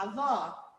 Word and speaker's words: avó: é bastante então como vocês abriram para falar avó sim ou não É sim não avó avô